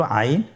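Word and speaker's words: ع: এর মধ্যে একটি হরফ হল আইন। আইন হরফটি উচ্চারণের সময় অবশ্যই তিন আলিফ টেনে পড়তে হবে। এখন আইন হরফটি বারিক হরফ। পাতলা করে পড়তে হবে।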